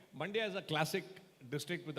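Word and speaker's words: Mandya: any district in India it rhymes with India it's called that you're aware of Right. Mandaia is a classic district with about 20 20 lakh population.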